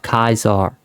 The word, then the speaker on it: Caesar: In Latin, Julius Caesar is pronounced Julius Caesar. And the funniest part is that the German word Kaiser, meaning emperor, is derived from the Latin word of Kaiser, or Caesar as she pronounces it.